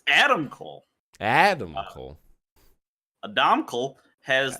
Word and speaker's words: Adam Cole: But now that Adam Cole, I don't know why I put the emphasis on the wrong syllable there. It's Adam Cole.